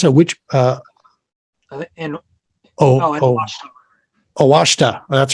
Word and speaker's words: Ouachita: uh filsonthal Refuge the what how do you pronounce it which uh oh awashta that's right awashta River Arkansas so this was like right on